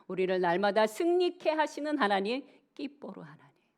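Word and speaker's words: גיבור: 자, 그런데 여기서 전능자, 이 전능자가 히브리어로요 좀 재밌는 발음입니다. 끼뽀르라고 합니다.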